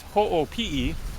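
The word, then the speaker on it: Hoʻopiʻi: The first one is called Hopi Falls, or actually it's Ho'opii, because you pronounce all of the vowels in the Hawaiian language. So it's Hoopii.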